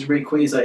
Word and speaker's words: Rayquaza: suspects Dialga Palkia and rayquaza it is pronounced Rayquaza not rack as a ax or something I don't